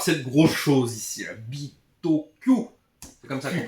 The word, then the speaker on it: Bitoku: Hop, on va commencer par cette grosse chose ici, la Bitoku. C'est comme ça qu'on prononce. Bitoku. Non. Bitoku. Pas Q. Bitoku.